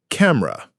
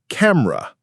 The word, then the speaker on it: camera: The correct pronunciation is camera. Think of it as cam, like camel, and then a very soft ra, almost like the sound you make when you're surprised.